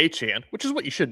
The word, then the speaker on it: Etienne: Travis Etien Aan where he says call me achan which is what you